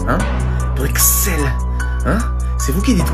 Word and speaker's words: Bruxelles: Alors comme ça, cher ami belge, vous n'aimez pas qu'on prononce le X de votre belle capitale? Et alors? Hein? Vous allez faire quoi si je le prononce? Hein? Bruxelles?